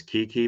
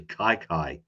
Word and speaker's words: Kiki: not playing so Kiki is that how you pronounce it Kyler nah Kyler's right but the the first name I always thought was Kiki but it's actually Kai Kai oh okay Kyler okay yeah all right Kyler